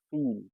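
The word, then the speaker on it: viel: If you want to say a lot or much is feel.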